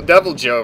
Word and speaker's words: Deviljho: really hard on this cutscene of deviljho appearing deviljho the pickle monster so double Joe right he's one of the yes that's how you pronounce !